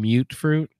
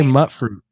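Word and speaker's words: Mutfruit: Because I play with the volume down, I didn't hear people saying mute fruit. I just would read it when the subtitles. So I'd just say mutt fruit. And, I felt like a big dummy when people were like, yeah, it's mute fruit. Think of it, dummy. Mutation. Yeah. No. When you just look at the word, it looks like mutt fruit.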